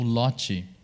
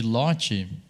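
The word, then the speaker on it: Lottie: aqui em algum momento, que ele usa o LOT. E tem algumas bibliotecas de LOT, que é esse formatinho que se escreve assim, L-O-T-T-I-E.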